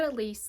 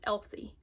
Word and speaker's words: Elsie: is Flawless by Elise I said Elise last time I talked about this book and I'm so sorry that I pronounced this wrong because I'm pretty sure that it's pronounced Elsie I'm so sorry I'm